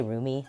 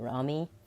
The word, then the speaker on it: Romi: Romi is Romy roomy some people say Rumi that's not how you say it but Rami I'm gonna be staying